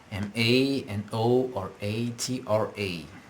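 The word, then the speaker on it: manoratra: to write to write m a n o r a t r a man man man okay the stress on the syllable man all right okay last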